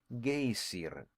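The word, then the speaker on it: geysir: The gazer, a word the Icelanders pronounce gayer and which signifies fury, rose majestically from its summit.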